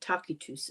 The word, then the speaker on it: Tacitus: Josephus and uh Tacitus Tacitus is how you say Tacitus who was a Roman senator in 115 AD.